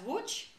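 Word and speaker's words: Łódź: top and ellos easy is pronounced in polish as watch and it means sailboat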